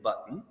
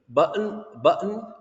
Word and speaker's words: button: I'm going to click on the Toolkit button. Some people say button in a very funny way. I say it pronouncing the T, but button, you know what I'm talking about?